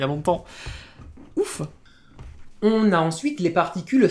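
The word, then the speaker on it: を: verbe de déplacement directionnel o qui s'écrit avec le filagana mais que l'on va prononcer o alors même si certaines personnes le prononcent également o c'est possible qui a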